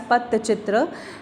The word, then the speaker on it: Pattachitra: Okay, it is pronounced as Pattachitra.